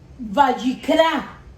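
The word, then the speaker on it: ויקרא: en esa porción bíblica en el idioma hebreo la palabra levítico se pronuncia vallecas vallecas y esta palabra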